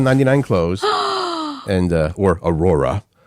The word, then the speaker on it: Aurora: clothes and uh or Aurora don't say it aora ah I got to